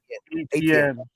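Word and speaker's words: Etienne: Ian 10. Is that how you say his name? Ian 10? Ian 10? ATN. Like AT&T.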